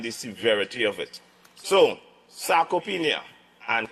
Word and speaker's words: sarcopenia: So, sarcopenia and cachexia, all right? That's the pronunciation, all right?